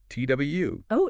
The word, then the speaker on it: Twu: dive into the two surname two yeah two t w oh interesting and it's pronounced two two okay I've definitely heard of